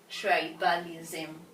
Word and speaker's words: tribalism: uh uh we see we are going to stress the first syllable tribe tribe why what with a d thong D thong because it is a d thong we stress the syllable with the di thong tribalism so tribe is